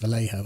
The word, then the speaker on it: Vallejo: I think it's pronounced Vallejo, isn't it? Vallejo, probably. It's a Spanish name, isn't it?